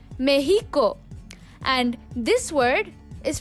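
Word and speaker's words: México: also you should know that this word is pronounced meheeco and this word is pronounced more Quito now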